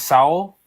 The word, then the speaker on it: Sowell: Yeah, like, and it is Sowell. You are correct in the pronunciation of his name.